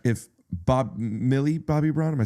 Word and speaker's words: Millie Bobby Brown: You know, like like if Bob Millie Bobby Brown, am I saying it right? Millie Bobby Brown.